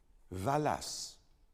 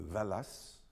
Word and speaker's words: Wallace: So next time you go to the Wallace collection, remember to pronounce it properly. La Valas.